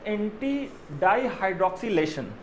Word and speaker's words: anti-dihydroxylation: So what is anti-dihydroxylation? Sorry, the correct pronunciation is anti-dihydroxylation. तो anti-dihydroxylation क्या होता है